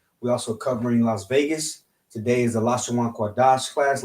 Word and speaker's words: Lashawan Qadash: read English, all right, this is how you would pronounce it. Lashawan Qadash.